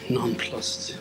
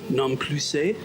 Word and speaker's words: nonplussed: Nonplussed. One of those words you read, but you don't hear it that much. I could even be pronouncing it wrong. What are the options though? Nonplussé? No, nonplussed.